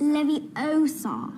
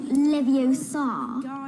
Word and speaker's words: Leviosa: someone's eye out besides you're saying it wrong it's Leviosa not Leviosa you do it then